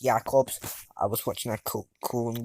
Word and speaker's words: Jacobs: Ismail Jacobs, it's pronounced Jacobs. I was watching a Cologne game, and that's how you pronounce it. I've been pronouncing Jacobs recently.